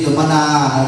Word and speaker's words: สุมนา: ชื่อ นาง อะไร นาง ส เสือ สระ อุ ม ม้า น หนู สระอา อ่าน ว่า สุม สุมะ สุมนาเทวี สุมนา สุมนา นะ สุมนา นะ เออ ใน